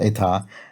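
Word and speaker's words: états: word for state and if you pluralize it you put an s on the end and it's pronounced the same it's still eta but has an s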